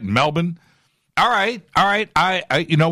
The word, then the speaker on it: Melbourne: conversation hashtag f2b q Glenn says Melbourne is pronounced Melbourne is that right Melbourne alright alright I you